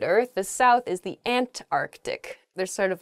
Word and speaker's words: Antarctic: really oh I guess when you're saying this word quickly you might leave out that first C in the Antarctic so don't say that don't do that say Antarctic the the very very